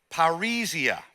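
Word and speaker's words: παρρησία: I'll phonetically spell it out as paria.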